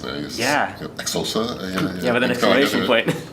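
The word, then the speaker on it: Xhosa: Exosa. Yeah, with an exclamation point. Then when I learned that you had to have that click, and you had to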